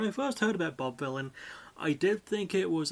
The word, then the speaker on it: Vylan: Because it's villain is spelled the same way, but it's got a V instead of a D at the start.